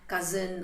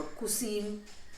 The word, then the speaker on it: cuisine: Cuisine, it's not cousin or cuisine. It's cuisine. That's how it's pronounced.